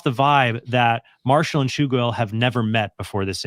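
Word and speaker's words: Tschugguel: At the beginning of the episode, he even asks if he pronounced Chuguel's name correctly. The whole thing gives off the vibe that Marshall and Chuguel have never met before this interview.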